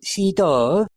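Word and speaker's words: Sydow: frequent collaborators, Max Van Seed. uh which is pronounced sito in in its native Sweden.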